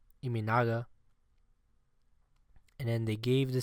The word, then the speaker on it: Imanaga: Shota Imanaga. Iminaga.